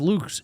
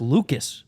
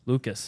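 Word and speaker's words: Lukes: and then whoa what his last name is not pronounced Luke's it's pronounced Lucas Lucas l-u-k-e-s I kind of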